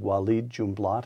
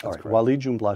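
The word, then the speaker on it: Walid Jumblatt: book you recount a discussion you had with wed junblat am I pronouncing that correctly you are Yes W junblat who's the leader of the Drew minority this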